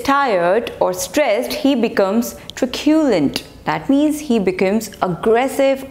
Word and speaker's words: truculent: Next word is truculent. Truculent. So the stress is on the second syllable.